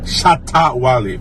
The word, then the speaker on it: Shatta Wale: Shatta Wale. Yeah, let me pronounce like a Ghanaian, like an African. Shatta Wale.